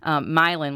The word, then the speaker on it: Milan: Milan, which is spelled like Milan, but Milan, Missouri, Paris, Missouri.